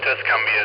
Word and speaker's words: Tuscumbia: That's, yes, Tuscumbia is how you say it, KO4CLD.